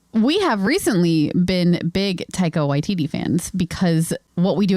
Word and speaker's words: Taika Waititi: apparently he's been on lots of stuff, is Taekwondo Waititi. No, I can't ever pronounce his name. Taika Waititi.